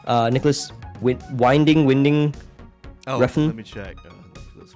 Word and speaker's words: Winding Refn: del Toro and Nicholas Winding I can never pronounce this guy's name. Nicholas Winding Refn. Let me check. Nicholas Winding Refn. Yeah. Winding Refn, Danish film director.